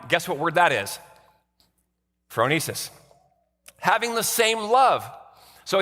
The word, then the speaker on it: phronesis: Phronesis.